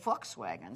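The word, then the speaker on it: Volkswagen: This past week, the V is an F. The sound in most of the V words in German are pronounced with an F. Yeah. Well, this is I wagon is folkswagen. Forkswagen.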